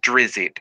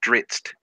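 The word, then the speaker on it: Drizzt: The name is Dritzt, you fuckhead. I know how to pronounce it. It's not Drizzit, it's Dritzt.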